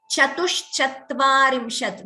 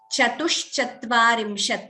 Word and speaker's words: चतुश्चत्वारिंशत्: Chatushchatvarimshat. This is the same Sha as Shri, Shiva. Sometimes there is a tendency to chant it as Chatus. That's not right. Chatushchatvarimshat.